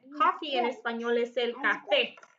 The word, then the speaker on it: café: Coffee en español es el café, con acento en la E.